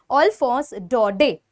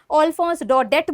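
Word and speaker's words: Alphonse Daudet: Because उनका नाम है अल्फोंस डॉडे। फटाफट से स्पैम कर दो। बीइंग अ फ्रेंच नेम, हो सकता है इसकी प्रोनाउंसिएशन आप लोग एक्सेप्ट ना करो, बोलो नहीं मैम हम अल्फोंस डॉडेट बोलेंगे।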